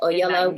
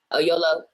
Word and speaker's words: Oyelowo: I don't know how do you pronounce his name. Oyelowo. Yes. Oyelowo and Nightingale.